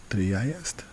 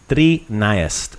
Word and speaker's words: trinaest: So maybe make those iest, make it flow a little bit smoother. Nice. Trinaest. Trinaest. Bravo. A little bit, yeah, just a little bit like Trinaest. kind of like a river just flowing, not so bumpy, right?